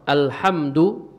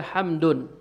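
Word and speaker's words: الحمد: Alhamdu kenapa tidak ditanwin? Kenapa kita tidak baca hamdun? Kenapa tidak dibaca hamdun? Kenapa dibaca alhamdu? Karena ada alif lamnya. Kalau ada alif lamnya enggak boleh ditanwin.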